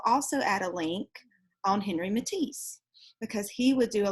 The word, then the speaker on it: Henri Matisse: Okay, and I know I told you that we would be going over Henri Matisse, or Henri Matisse is how some people pronounce it.